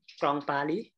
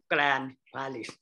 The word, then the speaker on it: Grand Paris: I pronounce in French, in French. Grand Paris. In English, it's called Grand Paris.